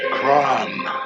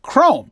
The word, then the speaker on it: CROM: CROM. No, it's pronounced CROM. Shiny and chrome.